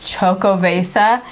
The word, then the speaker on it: Xocoveza: I had to look up how to pronounce this. Like we said, it's Xocoveza.